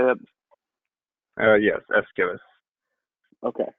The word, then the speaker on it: Aeschylus: Ellis how do you say it oh yes Escalus okay like the donkey is killing you ask